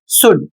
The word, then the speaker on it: should: अगला शब्द है एस एच ओ यू एल डी और इसे पढ़ा जाएगा शुड चाहिए। अब यहां पर देखिए इन सभी शब्दों में एल साइलेंट है।